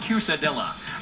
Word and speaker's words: quesadilla: something like that George what is it it's pronounced cadilla bring the fiesta home with this quesadilla maker which makes six wedges in minutes all